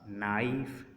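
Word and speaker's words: knife: मसलन उसने बोला नाइफ, नी, नो, नोक, नॉलेज। अब हमने देखा कहीं पर भी हमने की को प्रोनाउंस नहीं किया क्योंकि के बाद एन आ रहा है।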